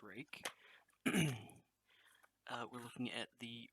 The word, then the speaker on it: Ruike: looking at the rake i learned how to pronounce it it's not ruik or ryuk uh it's rake uh we're looking at the rake p128sf um